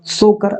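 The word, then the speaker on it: Tso Kar: तो यहाँ पर आपका राइट आंसर होगा सोकर आर्द्र भूमि। ठीक है, सोकर आर्द्र भूमिता यहाँ पर साइलेंट हो जाएगा।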